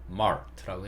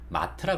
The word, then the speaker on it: mart: 그래서 이게 혀를 꼬으면서 mart라고 해주시는 거예요. 우리는 보통 이 단어를 마트라 그러죠. 마트. R 소리 빼고 마트, 이마트, 패밀리 마트 이렇게 마트라고 부르는데, 영어 발음은 mart라고 하는 게 맞다.